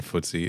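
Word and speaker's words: Futsie: Also, listeners, for the record, his name is spelled with a U, not with two O's. So, futsy. It's technically It's technically Footsie, I guess. But we've been saying Footsie. It's fine.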